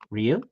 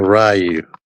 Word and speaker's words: Ryu: you say his name Ru yes it says it in the game yeah it's not rayu who says rayu a